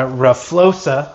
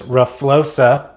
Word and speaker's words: RFioXa: I got my RFioXa. I understand that's how you pronounce this, RFioXa. That's how I'm told, and it's my rear shock.